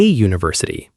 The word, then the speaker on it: university: But we say a university because university begins with a Y sound.